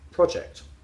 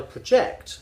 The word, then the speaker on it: project: The noun always stresses on the first syllable, the verb on the second. And people just don't know this, and it's fascinating. There's loads. Here's my project, but I project for the future that it'll be different.